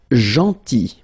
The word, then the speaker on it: gentil: Then, gentil. So remember this final L is not pronounced.